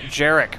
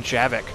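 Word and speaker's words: Javik: rather not pronouncing but saying jerck rather than javic I really thought his name was jerck I just realized I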